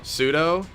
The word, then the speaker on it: pseudo: just excited isn't it how do you say pseudo pseudo like sudowoodo you wait you think it's